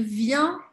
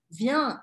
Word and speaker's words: vient: Mesma coisa, não falo o T ao final das palavras.